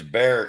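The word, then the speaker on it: Bexar: it but yeah it's it's beer County they call it beer count it's that's what they say down here but I always when I came down here I always called it Bear County that's what she said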